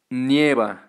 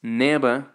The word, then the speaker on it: nieva: Some people tend to pronounce this as neva, without the I, without the E, well, the Spanish I, but that's incorrect, so don't say it. The correct way is nieva.